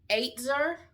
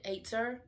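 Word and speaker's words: עֵזֶר: And the word is ATE-ZUR is how you actually pronounce it, ATE-ZUR. And it's spelled Ezer.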